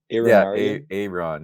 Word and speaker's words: Ǣronn: That's Pronounced Eugene. Aaron, is it Aaron? Aaron, yeah.